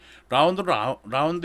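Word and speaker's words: ∂: 라운드 X에 라운드에 AX. 이걸 라운드 X라고도 읽는 책도 있고요. 편미분이라는 뜻으로 해가지고 파셜이라는 말도 써. 그래서 파셜이라고 하는 그런 책도 있고요. 라운드라고 읽는 게 일반적이에요.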